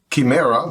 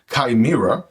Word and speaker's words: Chimera: this one is called the would want to pronounce it Kimera but it's actually from what I understand pronounced kaima right and of course you can see the